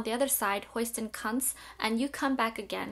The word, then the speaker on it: Kant: By the way, it's pronounced Kant. Kant is a German name, and I have a German loved one who went to a philosophy class. Everybody pronounced it Kant in America, where he pronounced it Cunt, and everybody looked at him funny. So it's actually pronounced Cunt. I'm not being rude. That's actually how you say his name.